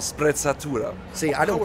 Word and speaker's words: sprezzatura: Yes, it's called sprezzatura. See, I don't pronounce it like that.